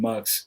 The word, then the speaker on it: Mukqs: The music that I make is under the name Mukqs, which is spelled Muqqs.